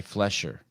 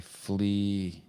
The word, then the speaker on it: Fleser: Yes, Fleser, but everybody says Fleser. No. Make sure he gets it right. There's nothing Sevan likes more than name pronunciations. Yeah, Fleser. But a lot of people just throw an H in there because they want to call you Flesher.